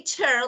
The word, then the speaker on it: tear: tear, like cry, if you say tear, like actually Yeah. tearing paper, so they're different.